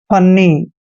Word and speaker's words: funny: FUNNY, FU का उच्चारण फ करते हैं, डबल एन को आधा न और पूरा न पढ़ते हैं, वाई को ई की मात्रा पढ़ते हैं। फन्नी दोस्तों फन्नी क्या होता है?